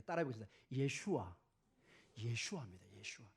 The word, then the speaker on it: 예슈아: 예슈아. 여러분 예슈아가 예수님의 히브리 언어입니다. 이게 헬라어로 예수스가 됩니다. 예수스 크리스토스 이렇게 되고, 근데 이 히브리어 언어는 예슈아 마시아 이렇게 발음을 합니다.